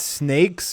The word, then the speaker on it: Sn4k3z: title of the game so it's snakes but it's spelled like in leite Speak oh my God you're